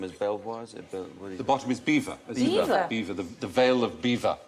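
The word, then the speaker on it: Belvoir: maning and bottom is Bel the bottom is beaver beaver the veil of beaver I am going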